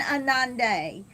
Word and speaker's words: Ananda: Good morning, Anande. I hope I pronounced your name And right. Ananda, Ananda. Yes, if so you'll look